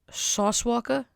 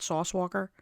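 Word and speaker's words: Sauce Walka: So in current events, not unrelated events, current events, a rapper named Sauce Walker. I have to say it like that because there's no ER at the end of Walker. It's not Sauce Walker.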